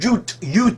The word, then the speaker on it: Jute: The region, the peninsula area, known as Jutland was named after the Jutes which in the northern dialects is pronounced YUT.